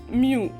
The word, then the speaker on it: mu: is denoted by a greek letter which is pronounced as mu so mu is equal to speed of light in r